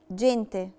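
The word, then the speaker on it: gente: جينتي، جينتي اتنطقت جي دولتشي، اتنطقت جي علشان لا لتر اي، قاعدة لا لتر اي بتخليني انطق الجي جي دولتشي فبقت جينتي. جوكو، جوكو يعني لعبة، نطقتها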